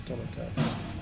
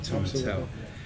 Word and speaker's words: Tomintoul: So it's Tomintoul. So I'll never forget that now. I've been told how to say it properly, Tomintoul.